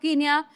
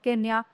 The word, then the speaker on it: Kenya: The following year, he became the first president of the Republic of Kenya, so which was then named after him. The spelling remained the same, only the pronunciation changed from Kenya to Kenya.